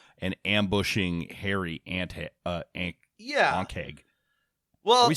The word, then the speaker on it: ankheg: Let me listen to what D&D Beyond says it's pronounced like. They have the little button. Ankheg. Ankheg, says the fine British narrator.